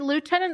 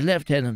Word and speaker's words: lieutenant: a question for you is it lieutenant or leftenant oh it's left tenant actually yes I'm I'm so glad you said it that one yes I I well it's America so I try and pronounce it accordingly because yeah S one